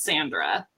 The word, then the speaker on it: Sandra: It depends. There's Sandra and there's Sandra, but I would say that's Sandra. Yeah. I love how you put the emphasis on it. It's fantastic. Hi, Sandra.